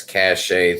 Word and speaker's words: cache: Uh, I guess I got to empty this cache thing once a month. I don't know. Fish swimmer. Does a fish even know that it's a fish? Yeah. Is that pronounced cache or catch? Cache.